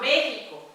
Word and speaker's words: México: Usted viaja a México. You travel to Mexico. இது மெக்சிகோன்னு சொல்லக்கூடாது ஸ்பானிஷ்ல. He X is her pronunciation இங்க, not everywhere.